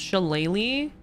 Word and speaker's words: shillelagh: I believe you guys that it's pronounced Shillelagh, but how the fuck is that an E sound at the end? That doesn't make any sense. Irish be weird. They're a little silly. So it's Shillelagh. That's not what that says at all. Is it Gaelic? Oh. Okay. However you think it's pronounced, it ain't.